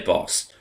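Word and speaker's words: Bors: I'm going to say Boss, because that's how they pronounce it, but it's spelt B-O-R-S.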